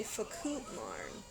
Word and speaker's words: Fakutmarn: Oh, you're hearing me say Fakutmarn. That's how it's spelled.